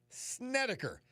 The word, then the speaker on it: Snedeker: Storm Tracker 16 forecast from meteorologist Joe Snedeker. And I still pronounced it right, even though there's an extra D in the copy.